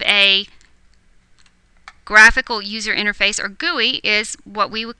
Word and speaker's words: GUI: a graphical user interface or GUI pronounced GUI this simply means that